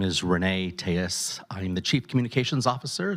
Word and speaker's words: Reyne Telles: My name is Renee Tejas. I'm the Chief Communications Officer. That's spelled REYNE TELLES.